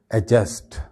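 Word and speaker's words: adjust: इसके बाद ये एक लफ्ज़ है, इसको आमतौर पे हम एडजस्ट कह करके प्रोनाउंस करते हैं, ठीक है, लेकिन इसमें भी जो है वो डी साइलेंट होता है एक्चुअली बोलते वक्त, यानी हम डी को बिल्कुल बोलते ही नहीं है। सही इसका प्रोनाउंसिएशन है एडजस्ट, एडजस्ट।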